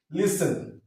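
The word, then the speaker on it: listen: আমরা নিচ্ছি না লিসেন লিসেন please লিসেন টু মি ঠিক আছে লিসেন টি উচ্চারণটা নিচ্ছি না টেন তারপর হচ্ছে কি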